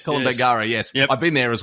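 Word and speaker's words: Kolombangara: um the island um I always get the name wrong colum bagara is it col bangara yes col bangara yes I've been there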